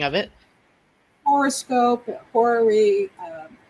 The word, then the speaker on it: horary: Horoscope, horary. Different people pronounce it differently, but I pronounce it like horoscope, horary.